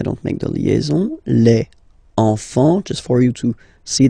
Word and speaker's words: enfant: Enfant. Don't pronounce the T, you don't pronounce the S. Enfant, okay?